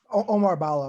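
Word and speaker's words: Oumar Ballo: Is it Omar Ballo?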